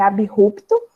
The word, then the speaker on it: abrupto: Na palavra abrupto, que também a gente às vezes acaba falando abruptamente ou abrupto, mas a pronúncia correta é abrupto, porque existe sim a separação, já que o A,